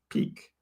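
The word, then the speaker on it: Peaq: For those that don't know what Peak is, this is spelled P-E-A-Q, Peak.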